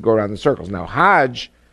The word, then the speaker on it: Hajj: around the circles now Hajj is a pilgrimage hogg is the Egyptian pronunciation hug in Hebrew means